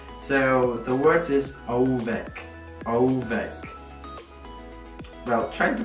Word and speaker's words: ołówek: So the word is ołówek. Ołówek. Well, try to pronounce that.